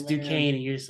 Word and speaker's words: Duquesne: um I mean look at least they got duck Quints on the schedule um I'm just kidding that's uh yeah last year when you're trying to pronounce it for the Florida state opener and I said it's Duquesne and you're just like